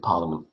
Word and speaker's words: Parliament: It's got an A in it for reasons I don't quite understand. So I guess I should be saying Parliament. So it's Parliament. We pronounce it Parliament.